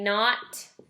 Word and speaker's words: knot: story that you're reading you might have a knot in your rope or a knot in your headphones or something like that silent K and makes the sound this is a different